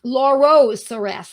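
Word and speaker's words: Laurocerasus: we go so yes laura cerasis lauros sarasa this is the better pronunciation please excuse me lauro lorocerasus and it's a great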